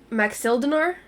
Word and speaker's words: Maxildinar: I think we figured out that it's pronounced Maxildinar.